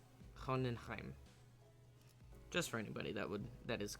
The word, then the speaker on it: Hohenheim: doesn't already speak German, in most cases when you have a German word and there's an E and an I, the second letter is what is pronounced. So Hohenheim, and so the E is ignored, which is not like English.